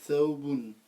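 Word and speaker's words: ثوب: Donc le sukun, déjà, par définition, c'est l'absence de voyelle. C'est l'absence de ces 3 voyelles. Donc là, on doit prononcer le waouh tel quel. Donc on va dire c'est thaou. thaou. Voilà, thaou. D'accord? Thaou. Voilà, thaou. Et enfin, donc il te manque la dernière lettre. Thaouboun. Voilà, thaouboun.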